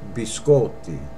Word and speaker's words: biscotti: it's biscotti yeah I hear a lot of Americans say gonna have a biscotti incorrect be sculpted and that means cookies plural be sculpted not